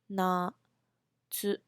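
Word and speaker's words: 夏: very pretty um okay so let's try to pronounce spring in Japanese spring we call ha do ha do summer we call Na to Autumn slash false we call a key uh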